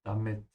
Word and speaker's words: damit: Yeah, in English, you make the A longer. In German, you have to make the I longer. Damit.